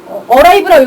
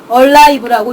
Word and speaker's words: alive: 왜냐면은 A가 어고 L이 리을이고 I 소리가 나고, V는 비읍이니까 V는 비읍 소리 나고, E는 여기서 그냥 무음이니까 소리 나서 alive 읽는 거 아니야? 라고 할 수 있는데, arrive라고 읽어야 되는 거 아니냐 이렇게 보는 사람들이 있는데, L은 쉽게 이해하시려면은 리을이 두 개이기 때문에 앞에 리을을 하나 더 주고 뒤에 리을이 남는 겁니다. 그래서 alive라고 읽는 게 맞는 거죠.